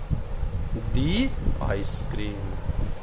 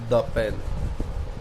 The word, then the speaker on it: the: तो अब आप इसको क्या बोलेंगे, दी आइसक्रीम। फिर नेक्स्ट आ जाए पे। अब आवाज क्या है, पे तो मैंने स्वर में बताया ही नहीं था, तो क्या हो जाएगा, द पेन, द पेन, द पेन, द पेन।